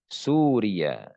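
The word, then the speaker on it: سورية: Begitu juga dengan Suria. Di sini ya-nya tidak bertasydid.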